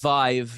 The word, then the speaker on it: Vive: The Vi is that was how it's pronounced? Vive. Yeah. Vive uh HTC Vive.